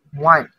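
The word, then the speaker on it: 万: 10,000 in Chinese is 1. That's spelled as WAN.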